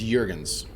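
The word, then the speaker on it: Juergens: Melina Jurgens no it's Jurgens this I think I think she is a Nordic programs Danish but uh the Nordic countries so the the Jays are pronounced as wise from what I understand the the model actually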